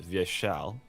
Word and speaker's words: Vyeshal: first I'll make a small correction so it's pronounced via shell yes so you have via shell it's it's